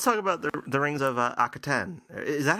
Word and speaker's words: Akhaten: Akhaten. Akhaten. We will... I think the stress is on the last syllable.